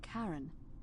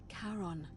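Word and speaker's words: Charon: is a little off the name you heard wasn't Karen it was c h a r o n as in karon the Fairman of the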